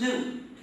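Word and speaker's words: gnu: the reason is because according to the dictionary the g is silent and it's pronounced new so anytime you want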